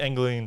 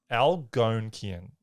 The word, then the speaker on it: Algonquian: So most of the Anglian tribes, not Anglian, sorry, I'm trying to pronounce this, Algonquian tribes. Algonquin.